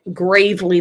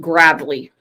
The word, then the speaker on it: Gravelly: And I said it wrong. I thought it meant Gravely Valley. He called it Gravelly Valley.